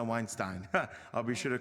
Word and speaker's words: Weinstein: It seems like everybody says Weinstein, but now it's good to know Weinstein.